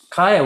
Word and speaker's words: Kaia: Go ahead and pronounce it for me the way you prefer it. It's Kaia.